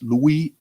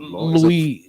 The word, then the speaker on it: Louis: correct the pronunciation it's Louis after Graham School Louise the French word French word so the S is silent okay so it's Louis